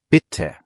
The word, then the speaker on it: bitte: Bitte hat 2 T, also kurz und knackig, bitte.